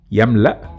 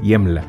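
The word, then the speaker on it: يملأ: will be like that yamla or yemla in masari again as important reminder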